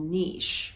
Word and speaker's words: Niš: was in was called Niš, but they actually spell it N-I-S, like no I-S, but they pronounce it with an H. So if you want to look it up on the map, Niš, Serbia, it's the southern part of Serbia.